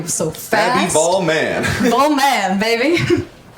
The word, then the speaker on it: Vollman: People do say my last name wrong. Actually, it's a Texas exclusive thing because people have Southern accents. My last name is German, so the O sound isn't like as common. So Vollman is very hard for people.